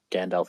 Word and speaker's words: Gandalf: one last question to gandalf again uh am i pronouncing your name correctly gandalf is correct gandalf okay um where would